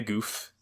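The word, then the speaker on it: Gouf: rambar Ral in the Goof um in the Goof I love yeah it's pronounced goof as it turns out not gal or Gul it's goof I love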